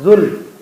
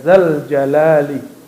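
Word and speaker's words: ذا الجلال: Ya Malikal Mulki, ya Badi'as samawati, ya Zal, bukan Zul, ya Zal Jalali, gitu ya.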